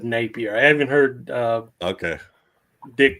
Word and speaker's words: Napier: It's Napier. I've heard people, everybody I know that knew him said Napier.